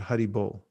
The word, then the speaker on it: Hari Bol: Hari, like this, is pronounced Hari, and Bol. These in Sanskrit. You try that, Hari Bol.